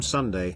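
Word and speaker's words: 순대: Not to be confused with an ice cream sundae, Korean sundae, pronounced Sundae, is a blood sausage that's usually served in slices with the dipping salt.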